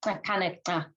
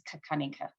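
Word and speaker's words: Xakanaxa: So locally, the X's are clicks, so it'd be Kakanika.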